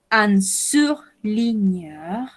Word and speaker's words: surligneur: Recordemos cuando tenemos GN, la combinación de letras G, la pronunciamos como una ñ.